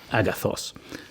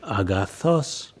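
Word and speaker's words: ἀγαθός: good in ancient Greek, it's agathos, but actually the accent is on the last element of that word, so your voice would go agathos. You hear my voice rising in pitch at the last syllable, agathos.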